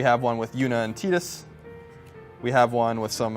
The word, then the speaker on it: Tidus: to us from Square this action figure of tetus or Titus if you don't want to pronounce it like the Japanese do so I want to